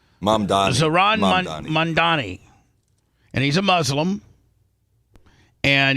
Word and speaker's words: Zohran Mamdani: Zohran Mamdani, and he's a Muslim, and he is now.